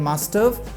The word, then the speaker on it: must've: ये हो जाता है मस्टव। इसको मस्टव, दोस्तों प्रोनाउंसिएशन पे गौर कीजिएगा। मस्ट हैव को जब हम मिला देंगे तो ये मस्टव हो जाएगा।